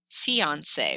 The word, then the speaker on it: fiancé: An E with an accent aigu is pronounced A, like Beyonce or fiancé when you're engaged to somebody else.